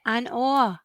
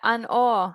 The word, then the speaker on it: An Oa: I was just going to say, and that's how you say it, an Or. I wasn't sure. Yeah, an Or.